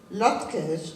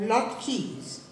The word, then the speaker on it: latkes: Jews this usually includes latkes pronounced latkes or lot Keys depending on when your grandmother came from pronounced potato pancakes if